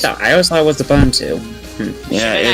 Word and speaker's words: Ubuntu: OS 10 Leopard, there was Ubuntu, Ubuntu. It's actually pronounced Ubuntu. Ubuntu. Hey, Oh, guys. I always thought it was Ubuntu.